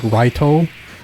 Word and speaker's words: Light: literally light yagami and because because it was written in japanese it's like raito but it's supposed to be light like the english word light just as his first